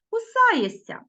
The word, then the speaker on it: кусаєшся: увагу на слова кусаєшся Ми пишемо шся а вимовляємо кусаєся кусається пишемо Т м'який